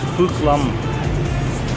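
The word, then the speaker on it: Phúc Long: It's PHUC-LONG, pronounced Phuc Lam, not the other way, North American way of saying it, you guys.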